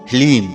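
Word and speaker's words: ह्लीं: ध्यान से सुनिए ओम हलीम जी हां मित्रों मंत्र को एक बार आप फिर से ध्यान से सुनिए ओम हलीम इसमें हा ला और बड़ी ई की मात्रा और अं की बिंदी लीम यह है माता बगलामुखी का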